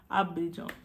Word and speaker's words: Abidjan: Ah my god, comment on le prononce? Abidjan.